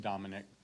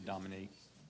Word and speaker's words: Dominique: He pronounces it Dominic, Judge. But he'll respond to Dominique. Dominic is proper.